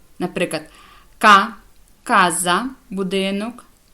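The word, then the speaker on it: casa: вивчити і запам'ятати далі коли буква буква ч читає це як к коли вона стоїть після неї йде голосна а о у наприклад ка Каза будинок коза річ куоре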